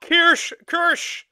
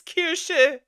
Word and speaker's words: Kirsche: It's not Kirsch! Hey, it's not Kirsch, it's Kirsche! It's not that hard to pronounce.